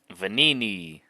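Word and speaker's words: Venigni: Kyle, pronounce that name for me real quick. Vanini.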